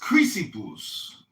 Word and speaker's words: Chrysippus: Cleanthes really go from Zeno to Chrysippus, I think, really had it kind of figured out. And then later It's pronounced Chrysippus.